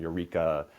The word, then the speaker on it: Ureeka: We want to provide ongoing support, and Eureka helps us do that. It's spelled Ureeka, in case anybody's curious and wants to look them up.